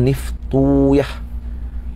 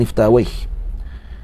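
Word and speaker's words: نفطويه: Maka mereka akan baca dengan Niftuyah. Niftuyah, tak baca dengan Niftawaih. Jadi waw itu disukunkan, ya difatahahkan. Mana Niftuyah atau Naftuyah dibaca gitu.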